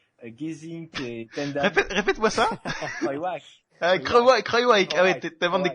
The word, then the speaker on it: Kruijswijk: Si Kruijswijk, Gesink et Tendam... Répète-moi ça. Kruijswijk.